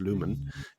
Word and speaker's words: Lumen: And the four companies that I put out to pull were Lumine, as I pronounce it. I think it's pronounced Lumen.